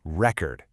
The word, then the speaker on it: record: When the stress is on that first syllable, we say record. That's our noun. It could be a vinyl record or a world record. But when we shift that stress over to the second syllable, it becomes record.